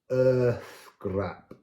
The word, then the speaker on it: Eorðgrap: Eorðgrap, Eorðgrap, Eorðgrap. So here the accent's suggesting that that's where you put the Eorðgrap. You put an accent down on that word. And again here, this is the unvoiced TH.